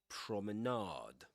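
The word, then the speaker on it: promenade: from his late night prominade. Um that's there's another pronunciation for that word prominard.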